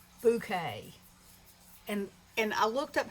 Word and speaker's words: Bokeh: Okay, so this is a technique called Bokeh. And I looked up how to spell it. It's Bokeh. I always thought it was Booka or, I always try to make something fancy out of something that's regular.